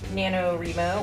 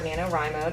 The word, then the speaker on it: NaNoWriMo: National Novel Writing Month NaNoWriMo or NaNoWriMo depending on how you pronounce it both ways are acceptable it is November 1st